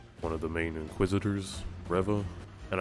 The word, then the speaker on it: Reva: main inquisitors reva and i know some people are calling her riva and i think they even pronounce her name that way in the show a little bit but i like to call her reva i feel like her name is a tribute to revan we should send out